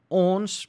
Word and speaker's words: ons: like that is you owns pronounced like that is us or we yellow directly to